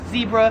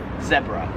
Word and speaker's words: zebra: I would pronounce this, Americans would pronounce this as zebra. However, in Australia, they pronounce it zebra.